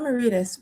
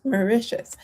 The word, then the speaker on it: Mauritius: I'm gonna look up the pronunciation. Mauritius, not Mauritius, Mauritius.